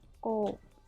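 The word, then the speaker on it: 口: Lalu ada kanji kuchi atau bisa dibaca guci dan ko. Ko-nya panjang ya, ko.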